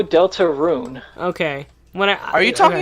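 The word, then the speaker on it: Deltarune: is wrong with you Delta urine a or something like that right no Delta rune okay when are you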